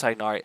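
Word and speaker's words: Tighnari: I have tigari tinari I know it's tyari there's a lot of names I'd rather pronounce different ways that's why I have tinari because tinari is the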